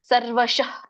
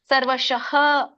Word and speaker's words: ಸರ್ವಶಃ: ಅಂತ ಹೇಳಿ ಅಂತ ಹೇಳ್ತೇವೆ ಇಲ್ಲ ಅಂದ್ರೆ ನಿಮಗೆ ಏನಾಗಿಬಿಡುತ್ತೆ ಅದು ಹ ಉಚ್ಚಾರಣೆ ಮಾಡಲ್ಲ ಯಾರು ಕೂಡ ಸರ್ವಶಃ ಸರ್ವಶಃ ಸರ್ವಶಹ ಅಂತ ಹೇಳಿದಾಗ ನಿಮಗೆ ಗೊತ್ತಾಗುತ್ತೆ ಅಲ್ಲಿ ವಿಸರ್ಗ ಅಂದ್ರೆ ಹ ಹೇಳಬೇಕು ಅಂತ ಒಂದು ವೇಳೆ ನಾನು ಹೇಳಿಲ್ಲ ಅಂದ್ರೆ ನೀವೇನು ಹೇಳ್ತೀರಿ ನೀವು ಏನು ಮಾಡ್ತೀರಾ ಸರ್ವಶ ಅಷ್ಟೇ ಹೇಳಿಬಿಡ್ತೀರಾ ಹೇಳ್ಬಿಡ್ತೀರ ಹಾಗಾಗಿ ಯಾರು ಅಧ್ಯನ